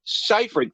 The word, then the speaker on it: Seyfried: Did they not give them a pronunciation guide to say Seyfried? Seyfried.